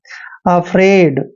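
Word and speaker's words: afraid: एफ आर ए आईडी ए का उच्चारण हम ए करते हैं एफ को हमने फ पढ़ना है और आर को रे ते हैं ए आई का उच्चारण ए की मात्रा करते हैं डी को हमने ड पढ़ना है अफ्रेड दोस्तों अफ्रेड क्या होता है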